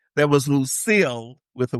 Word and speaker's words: Lucille: And the only other one that's actually kind of strange, other than Pamela with a Y, is Lucille, because it looks like Lucycle. So it's Lucycle, but it's Lucille.